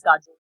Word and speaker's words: Kajol: Actually, it is Kajal, which is pronounced as Kajal.